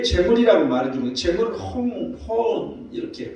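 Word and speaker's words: הוֹן: 여러분, 여기서 이제 이 내 재물이라고 말해주는 재물을 혼 이렇게 발음하는데 충분한, 족한, 재물, 부, 물질 이런 의미를 가지고 있어요.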